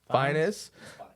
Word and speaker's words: Fiennes: Fiennes. Fiennes for Conclave, Sebastian love Stan, Finest, No, they should Fines.